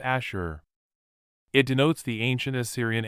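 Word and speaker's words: אשור: ancient Phoenician City Assyria the Hebrew word is pronounced Asher it denotes the ancientist Syrian Empire and people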